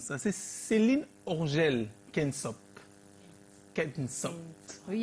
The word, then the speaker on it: Kentsop: Moi, j'ai jamais su comment on prononce ça. C'est Céline Orgel Kensop.